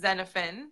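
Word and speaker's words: Xenophon: then two girls and my son's name is Fenne spelled Xen OPH o n my yeah my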